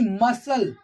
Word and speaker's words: muscle: as we can see muscle muscle we are not pronouncing here the letter c muscle muscle here scene